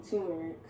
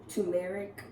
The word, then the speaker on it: turmeric: got a best friend they used to pronounce it tumeric and um we definitely went back and forth about it but then I get on tick tock a couple days ago and I see what looks to be an Indian lady saying that it is pronounced turmeric I don't know I